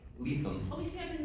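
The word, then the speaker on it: Lethem: Is it Levin? Lethal. Oh, we see I've been mispronouncing Lethal, this like whole lethal.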